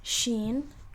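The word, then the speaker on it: شين: say see or sat this one is shin you pronounce it as she right like should or uh can't think of another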